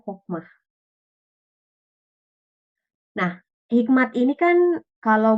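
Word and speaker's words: חכמה: Tulisannya cokmah, tapi bacanya hokmah.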